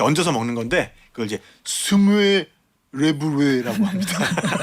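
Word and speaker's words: smørrebrød: 그다음에 이제 청어, 연어, 뭐 로스트 비프 같은 토핑 이렇게 얹어서 먹는 건데 그걸 이제 스무에 레브레라고 합니다. 스물레브레. 네. 여기 우 발음이 너무 많아가지고요.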